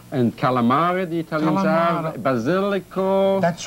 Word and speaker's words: basilic: Basilico. That's right. Aglio. Aglio, that's right. Aglio, garlic, cibollo. Cipolla, the onion, l'oignon. L'oignon. And how do you say basil. Le basilic. Le basic. Listen. The basic basilic.